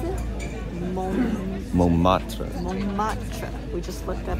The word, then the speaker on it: Montmartre: Say it, how do you pronounce it? Montmartre.